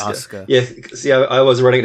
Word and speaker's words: Asuka: is it oscar yeah it's spelled asuka but it's pronounced oscar yeah see i was